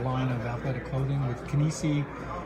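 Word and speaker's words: Kinisi: And you could look at our bigger site, which has our line of athletic clothing with Kinesi. That's like kinesiology.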